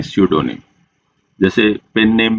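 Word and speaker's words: pseudonym: name next word है सडोनिम अब यहां पे फ्रेंड्स पी होता है वो साइलेंट होता है प्रोनाउंसिएशन में नहीं आता है तो क्या बोलेंगे इसको सडोनीम इसका मीनिंग क्या होता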